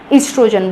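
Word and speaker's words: estrogen: तो आपको क्या बोलना है, हमेशा ईस्ट्रोजन बोलना है। OES भी लिख सकते हैं, O से भी और E से भी, दोनों स्पेलिंग्स करेक्ट हैं, ध्यान रखिएगा।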